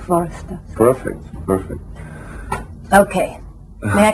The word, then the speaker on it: Hvorostovsky: You should really start pronounce V, Hvorostovsky, so V sound should be pretty hard. So Hvorostovsky. That's right. Hvorostovsky.